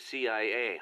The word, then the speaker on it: CIA: la Sia instead of CIA huh nothing strange about it that's how it's pronounced when you read it in Spanish it has the feminine